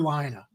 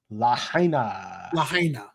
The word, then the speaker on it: Lahaina: I keep mispronouncing it is it Lahaina or liner Lahaina yes Lahaina that's the best sleepy